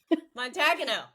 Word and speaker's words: Montagano: Montagano. Yes. Okay. Lynn Montagano. And she even spelled it for me phonetically.